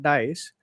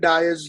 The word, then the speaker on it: Dyeus: For people watching who don't know yet, Harshit is the founder of Dice. Am I pronouncing it right? Yes. Yes. Yes. You can call it Dice.